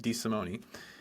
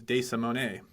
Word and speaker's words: De Simone: I need to correct myself because I actually I just said it the American way, which is D. Simone. I was in Italy recently, and I was actually told by somebody on a train that my actual pronunciation for my last name is De Simone.